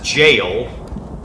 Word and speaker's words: gaol: and go to zeidoas's jail g-a-o-l i didn't know how to pronounce that i looked it up and apparently that's an old english spelling of jail or something so that's